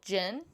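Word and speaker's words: djinn: been able to see mostly what we call gin it's spelled d-j-i-n-n it's just another word for demons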